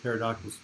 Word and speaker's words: pterodactyl: The P is silent. Oh my God, that is brilliant. But people don't know that pterodactyl begins with a P, so you have to see it in writing.